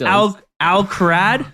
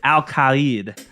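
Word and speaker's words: Al-Kharid: And then same with Al-Krad. That's what I would normally. You know what? Oh, I'm not having this. I'm not having 2022 Dills is going to be fine. It's Al-Khalid.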